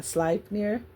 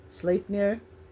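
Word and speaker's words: Sleipnir: Okay, this this is spelled s l e i p n i r. So, a slipeneir. Slipnier. Slipnir is the name given to Odin's great horse.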